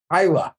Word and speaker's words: Islay: And a lot of people think they're from the island of Islay, but Smart Dribble listeners know that it's pronounced Islay.